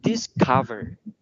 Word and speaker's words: discover: chữ E lộn ngược, nhưng mà thực ra đây lại là âm ơ. Vậy thì cái âm này, cái từ này mọi người sẽ phát âm là discover.